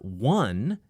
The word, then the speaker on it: one: only offer that's right the number one is spelled with an O o but it has a w sound which is a consonant sound just in case you're